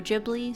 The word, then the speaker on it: Ghibli: part three as well both are accurate of Studio gibl yep studio gibli studio jibli same thing different pronunciation when I first saw